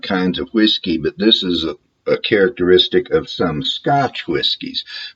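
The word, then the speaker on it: Islay: from the island of Isa and you spell that i s l a y it looks like isay but you pronounce it Isa although in Scottish or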